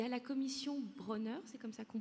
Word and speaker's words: Bronner: Il y a la commission Bronner, c'est comme ça qu'on prononce, qui va arriver contre le conspirationnisme, les fake news, tout ça.